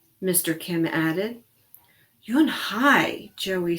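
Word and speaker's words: Unhei: Kim then turned to Joey and nodded slowly yes it's pronounced yum hi and it means grace mr. Kim added you and hi Joey said slowly and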